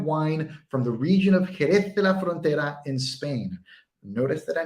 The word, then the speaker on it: Jerez de la Frontera: talking about fortified wine from the region of jerez de la frontera in spain notice that i nailed the pronunciation now with final cut pro you have